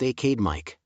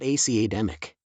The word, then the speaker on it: academic: wrong I think yes the emphasis should be on the second syllable it's pronounced aade mik not academic got it and finally